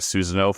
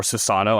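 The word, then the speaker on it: Susanoo: the eight-headed dragon that Susano fights or Sissano, I think is how you say his name.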